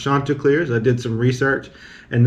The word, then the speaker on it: Chanticleers: the chanticleers shirt listed i pronounced it wrong in the video but it's actually pronounced chanticleers i did some research